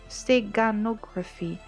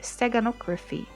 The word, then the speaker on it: steganography: as stegano or stego stegonography i have been pronouncing it wrong the whole time right steganography steganography okay uh is a way